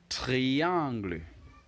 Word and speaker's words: triangle: is a triangle and just like in English it is spelled exactly the same in French but obviously the pronunciation differs so how do you